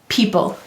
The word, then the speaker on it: people: And we can underline this advanced phonogram saying E And why do we have a silent final E in people? You're right. Every syllable must have a vowel. Let's read it. P-E-P-O, people.